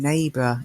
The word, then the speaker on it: neighbor: of a silent letter there's no pronunciation of the G in neighbor it's not need blue and it's not our its neighbor okay but Americans and